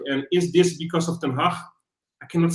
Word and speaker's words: Ten Hag: It's not Ten Hag with a double A, It's not Ten Hag, like a little Haag. No, it's like Erik Ten Hag.